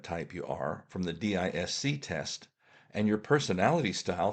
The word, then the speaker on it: DiSC: First, I would like you to look for an online version of the DISC test, which is pronounced DISC.